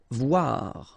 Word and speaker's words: voir: Voir, okay? Same thing here. O-I, wa, voir. Vouloir, okay?